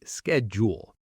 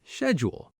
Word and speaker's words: schedule: For example, schedule. American speakers often say schedule, while British speakers often say schedule. Both are correct, just regional differences.